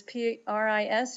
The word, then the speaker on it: pris: Prendre, this P-R-I-S is pronounced pris.